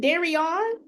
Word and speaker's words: Darion: I got my 2 minutes picking back off of Darian. Is it Darion? Yeah, that's how you say my name.